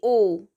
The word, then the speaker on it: owe: Pronunciation of this word will be only owe.